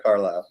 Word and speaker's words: Carlisle: Joining me is, you pronounce it Carlisle, right? That's right, Carlisle.